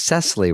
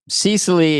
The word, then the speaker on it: Cecily: Uh Cesley, it is Cesley, right? You say Cesy. Yes, Cesley. I don't say it wrong. Okay. People do say it wrong. You've been saying it right. I appreciate that. I'm Dana and he's Devid. Yeah. No, it's Cesily is very hip. Cecily is like works at a mall or something.